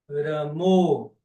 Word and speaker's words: Rama: Na Bengala, especialmente, você vai ouvir a pronúncia Ramo, Krishno.